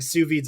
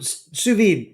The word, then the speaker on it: sous vide: Iron Chef and the competitions, they were using sous vides a lot in the last 5 years.